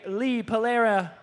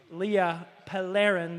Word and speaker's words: Leah Pellerin: Your order is going to be Leah Palera, and wow, I'll say it right the third time. Leah Pellerin, there we go.